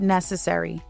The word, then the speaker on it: necessary: Take the word necessary. It may look long, but it really is just four beats. Necessary with a stress on the first beat.